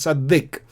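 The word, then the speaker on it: צדיק: again here dalet uh before the doet there is a sound vow short vowel sound and therefore we pronounce it sadik sadik means righteous man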